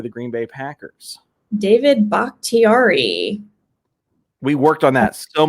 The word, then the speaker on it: Bakhtiari: David Bakhtiari. We worked on that so much pre-show. We did. We did actually have the pronunciation right, but you got to just double check.